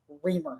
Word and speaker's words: Reamer: I I learned today that's how you say it real not remember reamer I said it wrong